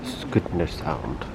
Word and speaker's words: Skudeneshavn: So apparently it's pronounced Skudeneshavn. I get very nice. That's it. Skudeneshavn. No, Skudeneshavn.